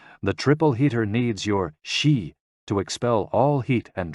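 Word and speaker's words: xi: which is associated with the spleen and x-i pronounced like she which connects the whole body the following poem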